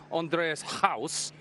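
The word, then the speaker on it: Andries Gous: So, when I'm saying Andreas House, is that okay?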